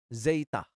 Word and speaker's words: zeta: eps laun kakek kemudian ada Zeta Zeita seperti pada kata zat kemudian ada Eta eitah